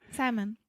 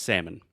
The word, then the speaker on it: salmon: but for whatever reason we do not pronounce the L so many times when